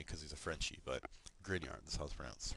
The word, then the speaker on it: Grignard: from the 1900s it's pronounced grin like you're smiling like the devil likes to grin and yard like Scotland Yard right so it's looks funny cuz he's a Frenchie but grin yard the South France right